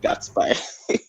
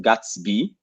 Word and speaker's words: Gatsby: and yet somebody said guts by yeah if it's it's pronounced Gatsby like from the movie the big that's people